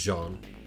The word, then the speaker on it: Jean: Has to be a French pronunciation of the name, so it's Jean.